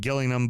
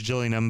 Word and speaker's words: Gillingham: The the Gills that are the Gills cuz it's spelled like Gillingham, but apparently it's Gillian, but they want to be called the Gills.